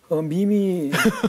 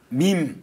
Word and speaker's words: MEME: 혹시 어떻게 읽는지 혹시 아시겠습니까? 미미. 네. 저도 처음에 매매. 맞습니다. 저도 처음에 매매 미미라고 읽는 줄 알았는데 네네. 보니까 밈이라는 단어. 밈. 요즘에 많이 쓰고 있는 밈이라는 단어가 MEME입니다.